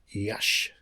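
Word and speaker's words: Iași: on the road to Yash which is spelled yasi and and this base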